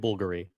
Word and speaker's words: Bulgari: I know people who work at Bulgary. It's Bulgar. It's not Bulgari. Bulgari.